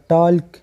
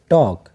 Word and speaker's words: talk: दरी सही pronunciation they टॉक T-A-L-K टॉक. दा एल ची पदे की कम दे दा साइलेंट दे दा हिस किस्म आवाज़ न वर कहीं.